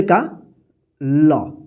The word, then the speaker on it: call: इस चांद है ना, इसको औ होता है, ठीक है ना, तो कौ, औ यहां पे आ जाएगा, और डबल एल का ल, ठीक है।